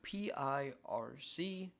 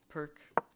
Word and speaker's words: Pirc: Even though it's spelled P-I-R-C, it is not the PIRC, it's the PIRC.